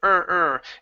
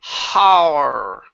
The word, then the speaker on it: her: better are ok but we don't want to say horror it's not a all into it but just an H to the are her one last time